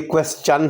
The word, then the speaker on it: question: ہے۔ کسی صورت بھی اس کو کویسٹن نہیں پڑھنا چاہیے۔ تو یہ ہمارے سبق کا پہلا نقطہ آپ تک پہنچ گیا۔ یہ کویسچن ہے، ہم کویسچن کو ترجیح دیتے ہیں۔ برٹش انگلش میں اس کو کویسچن کہا جاتا ہے۔ البتہ اگر کوئی پڑھانے والا اس کو کویسچن پڑھا رہا ہو تو وہ درست ہے، پڑھنے والا بھی درست ہے، کویسچن۔ البتہ کویسٹن کہنا غلط ہے۔ When and where was our prophet born?